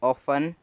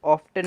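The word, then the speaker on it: often: वैसे ही है ऑफन, इसे हम ऑफ्टन नहीं ऑफन पढ़ेंगे, क्योंकि जो टी है वो साइलेंट है।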